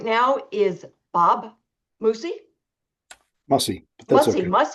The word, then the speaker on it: Mussey: Mussey. Okay. Mussey. I got to change the vowels in that so I say it right.